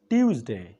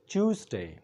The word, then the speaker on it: Tuesday: هغې ته ویل کېږي ټیوزډے یا ټوزډے دا دواړه تلفظونه د دې غلط دي د دې صحیح تلفظ دی چوزډے لکه CHOOSE چوس او ډے DAY ډے چوزډے Tuesday او دا ویل